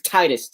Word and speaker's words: Titus: titus titus that's something the canon pronunciation is this okay i never call him that he's tightest to me okay it was titus okay i was just wondering yeah yeah um but like you know cause like it was it was in kingdom hearts they pronounced it as titus and so that became the canon on pronunciation but um so uh